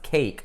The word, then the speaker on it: cake: The E at the end of that word is not pronounced. It is serving a function. It's making the A say A instead of A. So the word is pronounced cake, not cack. But that E itself is silent. It's not pronounced as E or E.